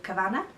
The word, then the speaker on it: Kavanagh: I'm Kavanagh, just letting you know how that's pronounced because a lot of people pronounce it the Irish way.